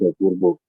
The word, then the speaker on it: Apurva: I think they pronounce it Apurva.